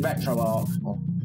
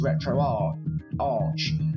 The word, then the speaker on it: RetroArch: or a misspelling but i always read it as retro r arch but everyone says retro arc but that's neither in